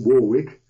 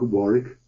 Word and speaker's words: Warwick: Americans pronounce it Warwick, W-A-R-W-I-C-K. So I have some web pages, one that contains preprints of most things I've ever written.